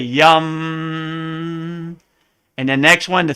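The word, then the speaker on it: यं: so the next one looks like yam the heart chakra but it's really yum and the next one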